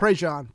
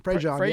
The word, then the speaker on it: Prejean: Prejean. Prejean, yeah. Is that how you pronounce it? Yep, Prejean.